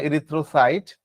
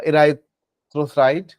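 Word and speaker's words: erythrocyte: রেড বা লাল, যেটা আমরা মেডিকেলের ভাষায়, অ্যানাটমির ভাষায় যেটাকে ইরিথ্রো বুঝি, অনেকে বলে ইরাইথ্রো, সেটাও চলবে, ইরিথ্রো বললেও চলবে। হ্যাঁ, ইরিথ্রোসাইট বা ইরাইথ্রোসাইট একটা উচ্চারণ করলে হচ্ছে।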